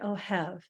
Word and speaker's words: Ohev: bashanko and my guest this week is Orion oh have I hope I pronounced your last name right I never asked